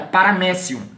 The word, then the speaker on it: paramécio: sublinhado ficar parar maécio pronúncia correta paramécio porque ela vai latina pensou que é e